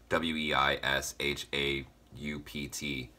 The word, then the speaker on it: Weishaupt: society that was first founded by Johann Adam Weishaupt. I don't know exactly how to pronounce it. It's Weishaupt.